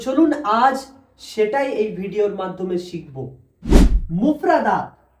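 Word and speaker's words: ثاء: সা উচ্চারণ হয় এই জিভের আগা এবং সামনের উপরের দুই দাঁতের আগার সাথে লেগে, এই যে সা সা সা।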